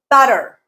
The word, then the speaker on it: butter: Butter, butter, butter. Ba is the stressed syllable.